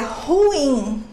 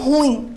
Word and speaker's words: ruim: Preste atenção que é ruim, não ruim a pronúncia. Ruim, eu tenho hiato e não é acentuado porque está seguido de M.